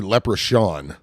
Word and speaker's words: leprechaun: leprechaun a lech pecan it's actually it's a it's an s sound it's ever it's actually leprechaun look craft in the